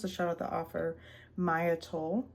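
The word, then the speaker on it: Maia Toll: shout out the author, Maya Toll. Not sure if that's how you say her name, M-A-I-A, Toll, T-O-L-L.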